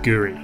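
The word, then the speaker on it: K'gari: intensely correct although it reads kagari it's actually pronounced Guri and it means paradise and that's what the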